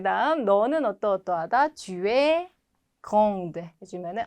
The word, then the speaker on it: grande: 자, 요거 발음 안 되죠? 끝에 petit. 근데 을 붙여주니까 petite 발음이 되죠. 마찬가지 요것도 뭐 그랜드 오픈 이런 거 많이 보셨죠? 큰이라는 의미인데 사람한테는 키가 큰 grand 발음 안 되고 있죠? 여성은 grande 발음이 된다.